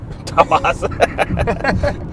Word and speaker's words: Tahawus: Tahawus. Take 2. We rehearsed this too. Tahawus. Tahawus. Tahawus. Or, as I tried to pronounce it the first time I read the word, was Tahawus.